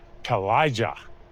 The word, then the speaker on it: Kalija: This restaurant here, people struggle with how to pronounce it. It's Kalija, is the way you pronounce it.